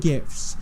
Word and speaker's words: GIF: You want to win all the gift cards YouTube down star below? PewDiePie has died at the age of... More importantly, it's pronounced GIF.